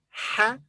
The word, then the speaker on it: ح: So this is ha. This letter has no English equivalent. Its pronunciation is similar to the English letter H, ha, but more from the throat.